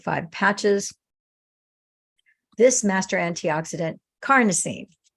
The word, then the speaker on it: carnosine: This master antioxidant, carnosine, rhymes with carne, like carne asada, because the root word carno, is flesh.